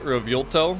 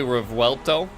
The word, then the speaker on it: Revuelto: I just prefer to say Revuelto, but it's actually Revuelto. That's the correct pronunciation.